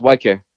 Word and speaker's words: Ykare: with my name is it's hard to pronounce i understand that but for like you know it's it's white care it's white care it